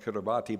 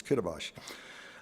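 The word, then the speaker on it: Kiribati: It's spelled Kurabati but it's Kabibash.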